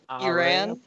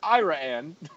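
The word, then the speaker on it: Iraan: How would you pronounce that word? Iran? No, that's Ira Ann, Texas. Oh. It's Ira Ann.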